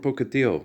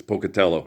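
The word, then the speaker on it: Pocatello: I'm from Pocado. It's Pocutello.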